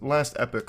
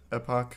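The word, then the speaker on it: Last Epoch: It's Last Epic, right? That's how you say it? Epoch, whatever.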